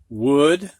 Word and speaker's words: would: matter of fact where o u is pronounced ow usually but not in these words could would and should all right next one